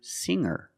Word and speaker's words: singer: And I can change sing to singer. When I change these words with er, I don't pronounce the g sound. It's just the nasal linked together with the Together, hanger, hanger. There's no g sound.